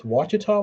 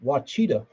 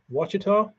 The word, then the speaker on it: Ouachita: right Morgan you know how I used to pronounce Ouachita when I was a kid wachita um Casey is that